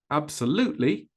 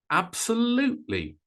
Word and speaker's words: absolutely: the others which one well for absolutely absolutely it's number three absolutely absolutely much higher much